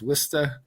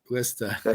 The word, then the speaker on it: Worcester: Even though the neighborhood, I mean, the the dialect there, they use kid a lot and uh they'll pronounce Worcester as Wora and Worcester. Worista.